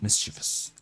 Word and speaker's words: mischievous: mischievous um misch okay I think it's pronounced mischievous but just let's see mischevous mischievous yeah it's mischievous mischievous mischievous okay it's